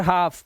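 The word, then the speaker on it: half: आया जैसे काफ और हाफ इसके अंदर दोनों में देख रहे हैं एल साइलेंट है इसे कलफ या हलफ नहीं पढ़ते हैं हमसे काफ और हाफ पढ़ते हैं एल साइलेंट क्योंकि एफ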